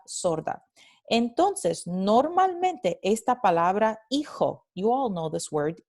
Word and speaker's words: hijo: Entonces, en el andaluz vamos a tener no hijo, sino hijo, hijo, right?